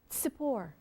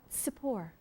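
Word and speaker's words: Tsippor: It's Sippor. Sippor. So not the. T-S-I-P-P-O-R. Sippor.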